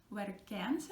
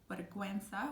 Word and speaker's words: vergüenza: you're never gonna say vergüenza in this case because you have the two little dots over the U, which indicate you have to pronounce that sound, and it sounds like vergüenza, which is embarrassment, like how embarrassing this is.